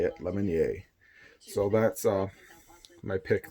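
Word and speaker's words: Lemonier: your lemony a that's how you say it lemon yay so that's all my pick their mug subscribe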